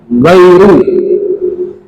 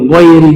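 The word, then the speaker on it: غير: Jadi kalau wasol bacanya ghairi, kalau waqaf bacanya ghairu, ya, ghairul maghdubi alaihim waladdallin.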